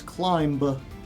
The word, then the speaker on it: climb: the climb going well climb has a be at the end of it it's a weird silent B so remember it's climb but this is the